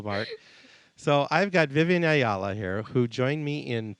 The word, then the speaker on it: Ayala: Ayala. Ayala.